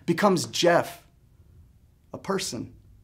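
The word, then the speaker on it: Geoff: are hurdled with ease g e o f f becomes Jeff a normal word a normal person instantly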